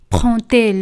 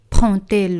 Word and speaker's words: prend-elle: Prend-elle le train? Aquí con la inversión del sujeto ponemos un guión con la tercera persona singular. Prend-elle le train? Y como veis, D se pronuncia como T.